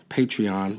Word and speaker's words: Patreon: Is it patron or patron? it's spelled Patreon, Patreon, but it means patron.